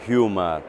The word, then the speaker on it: Hymer: Quest'anno con Imer, o come realmente è la pronuncia tedesca, Humer, abbiamo deciso di andare ad evidenziare quelli che sono i plus che rendono realmente differente il nostro prodotto.